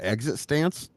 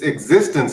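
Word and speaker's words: eXistenZ: ever seen it no exit stance it's it's it's it's existence but it's spelled like exit stance ah okay okay I'm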